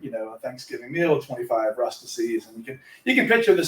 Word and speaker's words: Rustici: If anybody ever asks you how to pronounce Rustici, you just tell them that Rustici rhymes with ecstasy.